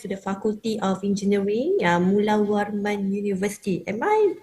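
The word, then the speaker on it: Mulawarman: huge uh thanks to the faculty of engineering Mulawan University. Am I pronounced right for the university? Definitely Mulawan University. Yes. Mulawan.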